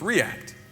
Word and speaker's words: React: Did you know that when it's a verb, it's react? When it's a pronoun, it's react. You're supposed to pronounce the first syllable as the accent. So it's react.